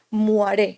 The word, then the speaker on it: moiré: extraño y es el efecto moiré que se escribe muaré que se pronuncia si no recuerdo mal y este filtro lo